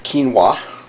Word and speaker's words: quinoa: pronounced Quinn oh no looks like it's pronounced Winona but it's quinoa so I have that